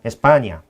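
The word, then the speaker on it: España: 스페인이라는 단어는 영어식 발음이죠. 그러니까 그러니까 영어식 미국- 발음이고요. 그래서, 예, 예. 그리고 본토 사람들이 얘기하는 본국 사람은 에스파냐.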